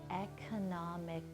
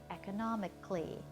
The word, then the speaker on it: economically: Now again, you might think the word would be pronounced economically, but it's not. We kind of squish that last couple of syllables together to get a kind of clee sound. So we say the word economically or practically.